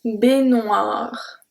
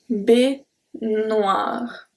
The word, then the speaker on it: baignoire: So I told you that when it's GNOE, we do not pronounce the E, but we go directly to noix.